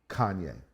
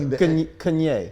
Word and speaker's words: Kanye: Between the A and the N. It's like Kanye. Yeah. Kanye. It's a completely different way, which then I was